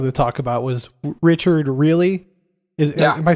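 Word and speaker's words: Riehle: I think that's technically how you say it. I always say Richard Reel. I think technically you're right. Like, the German way of saying it is Richard Really, but I think I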